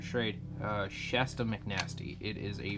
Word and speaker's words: Schrade: This is the Schrade, however you want to pronounce it, I pronounce it Schrade, Shasta McNasty.